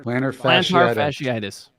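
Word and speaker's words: plantar fasciitis: planners how do you say it Dan planner plan fasciitis thank you you you guys are both doctors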